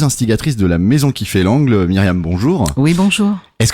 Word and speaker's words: Kifailangle: Dans l'orthographe de la Maison qui fait l'angle, ça s'écrit K-I-F-A-I-L-A-N-G-L-E.